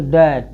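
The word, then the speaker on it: debt: जैसे टी से पहले बी है, यहाँ डेप्ट, इसको क्या पढ़ेंगे? डेप्ट नहीं पढ़ेंगे, इस पढ़ना होता तो पढ़ते डेप्ट। इसको डेप्ट, बी को क्या साइलेंट करें? इसको पढ़ेंगे डैट, क्या पढ़ेंगे? डैट।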